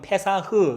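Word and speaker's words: פסח: 이 넘어간다라는 요 단어가 히브리어로 좀 어려운 말로는 페사흐, 파사흐 이런 발음을 쓰더라고요. 이게 스트롱 코드 전에 많이 말씀드렸잖아요. 6452번인가 그래요. 6452번 스트롱 코드. 발음은 페사흐 이런 발음인데, 이게 영어로도 발음이 좀 비슷하더라고요.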